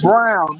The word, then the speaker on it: Braun: name Brown.